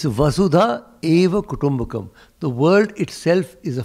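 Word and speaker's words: वसुधैव कुटुम्बकम्: Except that everybody in Delhi mispronounces it and thinks it has something to do with Vasudeva Krishna. Nothing to do with Krishna. It's Vasudha Eva Kutumbakam.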